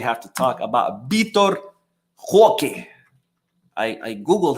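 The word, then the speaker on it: Roque: to talk about bittor Hoke I I Googled how to save his name properly and apparently his last name the r is silent so it's okay all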